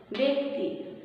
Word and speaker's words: ব্যক্তি: এখানে জফলা আছে সাথে পরে কি আছে রস্যইকার আছে, জফলা থাকার পরে রস্যইকার থাকায় এটা উচ্চারণটা হবে একারের মতো ব্যক্তি।